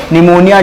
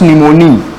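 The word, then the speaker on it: pneumoniae: Diplococcus निमोनी के द्वारा देखो निमोनिया की जो स्पेलिंग ना पी से स्टार्ट होती है। किससे स्टार्ट होती है? पी से। तो लिखो निमोनी, डिप्लोकोकस निमोनी।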